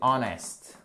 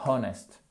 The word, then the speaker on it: honest: en avez une autre qui est pareil c'est honest honest et pas honest je sais que vous n'aimez pas quand je prononce mal mais c'est vraiment pour vous entendiez